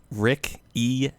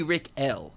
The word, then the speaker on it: Rick Eel: Rick Eel Lel. So, it won't be Rick L., it's Rick Eel, like Louis CK. That's that's how you want it to be pronounced.